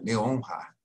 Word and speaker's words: Leonhard: Um se escreve sem H, que é o Leonard, e o autor do nosso livro se escreve com H, Leonhard. Eu brinco até que termina com hard, que é duro.